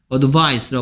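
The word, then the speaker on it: advice: 선생님이 조심하라고 늘 얘기하는게 얘 너 어떻게 있구 어드바이스를 고 있고 얘는 뜻이 더 숨고 라고 하는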